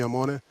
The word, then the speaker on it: Amone: going through them gradually so it's Tommy amone for everybody else last clip your try